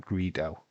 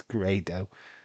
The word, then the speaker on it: Grado: It's not Greedo. Greedo's from Star Wars. It's Grado. It's spelled G A R D O.